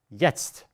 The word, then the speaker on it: jetzt: And when you have TZT, then you only pronounce st, but you don't pronounce st. This is actually quite intuitive. I simply added it for the protocol. So now in German means jetzt. You could take away this T and it would be the same pronunciation.